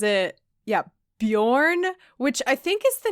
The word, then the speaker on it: Beorn: When I was reading it, I was saying it in my head like Bjorn. It's a very Scandinavian vibe. And the audiobook pronounces it Bjorn, which I think is